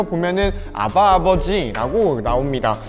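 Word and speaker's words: אבא: 개역개정 을 써 보면 아바 아버지 라고 나옵니다 2 아바 라는 단어가 우리나라 말로도 아빠를 아빠 라고 하잖아 근데 이 아바가 아람 으로 아빠를 아빠 라고 해요 그러니까 아빠 더를 아바 라고 하는 거죠 우연치 않게 우리나라 말이랑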